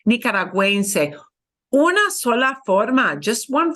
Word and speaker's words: nicaragüense: here, because we do want you to pronounce the U, it's not silent here. We put that little double dot. It's called the diéresis. In German, it's called umlaut, but in Spanish, it's called diéresis. Nicaragüense. It sounds like a whoa, a W, right?